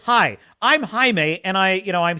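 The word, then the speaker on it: Jaime: a i m and she pronounces it phonetically in the English way and she says Jamie is that your name Jamie and then he says no my name is Hae and she says oh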